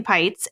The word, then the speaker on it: Peitz: everywhere under my first and last name pytes and it is spelled kind of odd because most people think